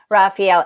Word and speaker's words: Raphael: Everyone seems to know Raphael. And you break the name down, and it's important to say it like 4 times, and it's Ra, Fa, El, El.